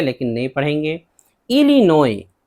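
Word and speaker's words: Illinois: इलिनोय, इलिनोय एस है last में, नहीं पढ़ेंगे, ये अमरीकी सूबा है, ये भी अमरीकी सूबा है।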